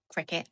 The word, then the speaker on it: Cricut: Now that I don't even like rainbows thing, I cut out of my Cricut, or cricket as it's properly pronounced, but that just doesn't come naturally to me. So I'll probably interchange between Cricut and cricket.